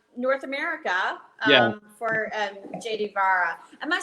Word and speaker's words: Vajra: for JD Vajra. Am I saying that correctly? Yeah, so you would say Vi. The J is not actually pronounced the way that we pronounce a J.